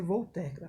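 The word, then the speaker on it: Voltaire: terra a escrita de voltar era mas se pronuncia vou tecla francês eu coloquei uma frase dele aí uma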